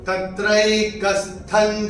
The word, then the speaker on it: तत्रैकस्थं: थ के ऊपर अनुस्वार के बाद का अक्षर है ज, और अनुस्वार के बाद जो अनुस्वार के नियम अगर हम देखते हैं उसमें अनुस्वार के बाद जब ज आएगा तो अनुस्वार का उच्चारण होगा न। तो हम अपनी किताब में यहां पे न लिख के रख सकते हैं।